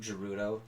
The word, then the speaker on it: Gerudo: It's Gerudo, not Gerudo. It's Gerudo.